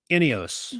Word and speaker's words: Ineos: not it is uh I think they pronounce it um ineos that that older G-Wagon